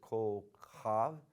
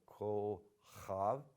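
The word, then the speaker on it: כוכב: Then for star, we have the singular form, which is kol chav. You break it down, just go kol chav, and try to get the ch in there, the guttural sound, kol chav, and then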